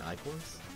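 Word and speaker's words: ichor: I usually like it if I have Plague Knight late because, could you explain I-cores? Oh, right, you do have access to Takers. It's pronounced I generally I-core, hated the it.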